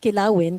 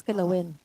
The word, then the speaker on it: kilawin: No, it's not Kilawin because you put the accent on the wrong spot. It is kilowin. See, it was kilowin. I got it right. Kilawin, but not win. It's It's like a softer. It's kilowin.